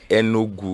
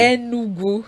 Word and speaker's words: Enugu: me to learn uh so you say enugu enugu yes okay sorry I'm using